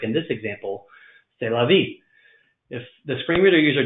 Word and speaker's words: c'est la vie: is french i'm sorry if the screen reader doesn't know this is french it may try to pronounce this as ceslava which isn't going to